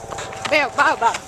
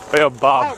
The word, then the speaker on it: baobab: And this is to the baobab tree. Baobab. Baobab.